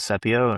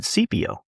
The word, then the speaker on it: Sepio: then we came to protect in Latin with Sepio, and we're like, cool. And then lo and behold, our attorney says he kept calling it Sepio, yeah. and we're like, dude, it's Sepio.